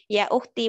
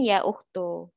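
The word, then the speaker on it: يا أختي: Tapi bacanya tetap ya ukhti bukan ya ukhtu. Karena aslinya dia ada ya-nya. Wahai saudaraku atau wahai saudariku.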